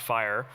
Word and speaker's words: FHIR: data standards core so fhir pronounced fire is basically a new